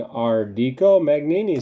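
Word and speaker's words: Ardico Magnini: so our dqo a Magni Italian pronunciation Rd Co mag Nene so I pronounced that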